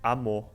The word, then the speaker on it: amor: Um que tu não disseste é quando ele fica só quando, em vez de se pronunciar o R final, fica a vogal, tipo amor.